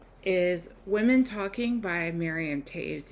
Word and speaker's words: Toews: Anyways, today's book is Women Talking by Miriam Taves. Yes, it is pronounced Taves, not Toes.